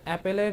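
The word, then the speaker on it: Apple: Sorry, অ্যাপল বললে অনেকে বলবে যে আমি উচ্চারণ করতে পারি না। আসলে বাংলাদেশে অনেকে এভাবে উচ্চারণ করে, তাই করছিলাম, অ্যাপেল বলবো এখন থেকে।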